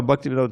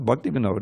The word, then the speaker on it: Bhaktivinod: To fill out, it's not Bhaktivinoda, it's Bhakti Vinod. It's right there in the song. To fill out the meter.